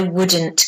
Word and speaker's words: would: If I were you, I would, remember you don't pronounce the O or the L.